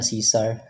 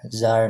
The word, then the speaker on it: Zar: Ang pag-pronounce ako ang ngalan kay dili na Caesar, Zar na siya.